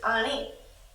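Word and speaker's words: אני: Which is Ani.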